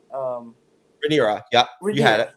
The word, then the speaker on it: Rhaenyra: Rhaenyra, yeah, you had it. Rhaenyra.